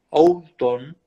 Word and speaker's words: Oulton: googleen al doctor Carlos Oulton, así se escribe. Se escribe, pero se pronuncia sin la O.